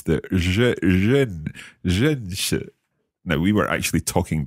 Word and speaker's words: 认识: It's tricky to pronounce the 认识.